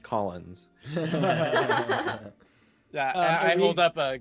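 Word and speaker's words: Caulanz: L A Believe it or not, it's European. It's just pronounced Collins.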